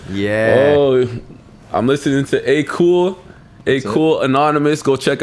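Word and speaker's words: Akoul: the letter a a-k-o-u-l so it was like cool the beginning of my last name last name yeah yeah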